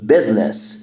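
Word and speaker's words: business: الكلمه دي مشنس دي زنس الاي هنا سايلنت زنس زنس زنس كلنا عارفين معنى كلمه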